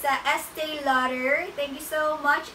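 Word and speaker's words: Estée: for you like me me me Ilana this Estee Lauder to be honest I'm not familiar with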